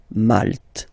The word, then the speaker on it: Malte: Same thing here, you don't insist on the final E. Malte.